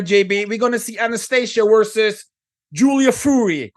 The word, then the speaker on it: Anastasia: is know they didn't they forgot how to say Anastasia they made up a new name but it's Anastasia okay like always okay